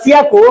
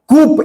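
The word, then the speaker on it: coup: कुछ सुन पा रहे हैं? नीचे आना। जस्ट उसके बाद दो तीन चीजें हुई। कूप, ये जो कूप है ना, इसको कू बोलते हैं। कू, पी इसमें साइलेंट होता है।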